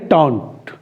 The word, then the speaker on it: taunt: और साइलेंस और इंसान के लिए साइलेंट यूज होता है। एक चीज आपने क्लियर कर लिया, तो इसको बोलते हैं टॉन्ट।